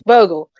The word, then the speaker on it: Bogle: right so it's mine okay and i am pronouncing bogor because that's the other one i'm like it looks like bogu it's bogo right like it's bogel it's like soccer burglar that's all good that's